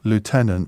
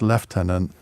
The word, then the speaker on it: lieutenant: why is the word Lieutenant pronounced leftenant in Britain and lieutenant in America well because it was